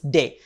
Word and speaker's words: D: c it's say and for D it is day like how we'll pronounce day d a y day in English so D is going